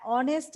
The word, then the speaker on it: honest: হ্যাঁ, অনেস্ট আমরা যখন প্রোনাউন্স করি তখন আমরা অ বলি, আমরা কিন্তু এইচ প্রোনাউন্স করি না।